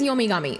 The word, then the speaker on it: Yomigami: So, Gami is another, like, they change pronunciations a little bit, but the kanji for Gami is the same as Kami. So it's just pronounced with a G instead of a K.